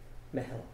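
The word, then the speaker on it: meitheal: How do you spell it? That's a good one. M-E-I-T-H-E-A-L. Mehel.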